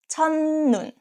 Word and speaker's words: 첫눈: And next, the first snow, 첫눈. 첫 ends with T sounds, 첫, 첫, and next syllable start with ni은. This case, 첫 is pronounced as 천, 첫눈, 첫눈.